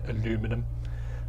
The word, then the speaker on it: aluminum: with a bit of aluminium foil or as you americans say aluminum um this kind of